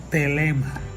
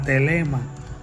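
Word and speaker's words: thelema: Que en el griego se conoce como telema. Y telema se escribe T-H-E-L-E-M-A.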